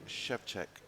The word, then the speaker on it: Szewczyk: How would you pronounce his name? So it's Wojtek Szewczyk.